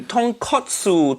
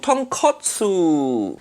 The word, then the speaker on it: tonkotsu: But katsu mean cutlet. So tonkatsu mean fried piece of pork. That completely different thing. Say it properly. Tonkotsu. Tonkotsu.